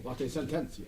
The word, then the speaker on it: Latae Sententiae: Is not a pope excommunicated Latae, I'm going to pronounce this wrong, Sententiae. Latae Sententiae.